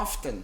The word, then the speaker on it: often: Eles utilizam o T. Então, dependendo muito da região nos Estados Unidos que você tiver, você vai ouvir o T, em algumas regiões não vai pronunciar o T. Então, fica à vontade para falar how often or how often.